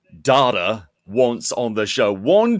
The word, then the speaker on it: Data: Data and data. The second way you said that was the correct way.